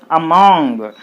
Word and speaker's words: among: find the prefix a if the prefix a is there there should be the stress on the second syllable what is the second syllable here between these two a is the first one and mong is the second syllable so you put the stress mark on mong mong that means on the